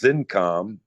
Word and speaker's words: Xincom: And this division, which was Zincom, which is not spelled with a Z, it starts with an X, Xincom, made memory IC test systems.